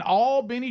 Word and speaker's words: Albany: Today, Canon is in all Benny, Georgia. Bub and I, we learned how to say it right. Albany. All Benny, Georgia. So, go ahead, Canon.